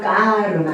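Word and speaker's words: karma: 그래서이 K를 인도 사람들은 좀 발음을 된 발음을 해요. 우리는 K로카 발음을 하는데 인도 사람들은 끄 발음을 해요. 그럼 만약에 인도식으로 발음한다면 뭐가 되겠습니까? 까 까르마. 까마 또는 까르마 또는 까마라고도 해요.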